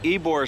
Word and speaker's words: Ybor: old stomping grounds Mike so this is called ebore City and it's spelled YB o r and Mike's best guess